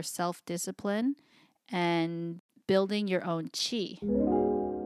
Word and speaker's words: Qi: and building your own Chi what is chi soqi which is spelled Qi is a concept from